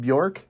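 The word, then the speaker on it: Björk: imdb right now there's one i know it's pronounced bjork b j o with the two dots over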